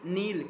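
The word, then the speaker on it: kneel: Needing, नील, के N double E एल, के silent रहते हैं, नीलिंग हो गया।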